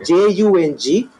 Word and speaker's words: Jung: briggs myers look for carl jung spell j-u-n-g but it's pronounced jung look for these and